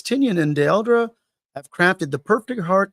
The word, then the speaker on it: Dell'Edera: I've heard people say Werther Dell'Edera. Dell'Edera. What you said sounds correct.